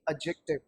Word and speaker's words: adjective: अब एक चीज समझिए, बच्चे से एडजेक्टिव पढ़ते हैं, this should not be pronounced adjective, it must be adjective। क्योंकि देखिएगा इसके अंदर ना ये जो डी है ये साइलेंट रहते हैं।